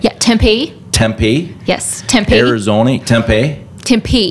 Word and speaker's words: Tempe: right okay yeah yeah if the accent is on the P so Tempe okay Arizona all right